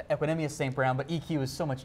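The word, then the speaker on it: Equanimeous St. Brown: It is pronounced Equinemius St. Brown, but EQ is so much easier.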